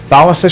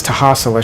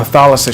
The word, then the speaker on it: Thalassa: I'm making a necklace out of Thalassa shells. I always mispronounced it as Tahasala shells when I was younger.